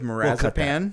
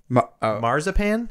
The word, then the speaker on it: marzipan: Notes of marazepam. We'll cut that. Marazepam? Marazepam? What the heck is that? Marzipan? That's what I meant to say.